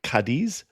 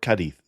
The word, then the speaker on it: Cádiz: The first city I'll be talking about is either Cadiz or Cadith with the emphasis on the first syllable.